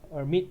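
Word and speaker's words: Hermite: h n of y h is because it's pronounced the or mid polynomial okay so the list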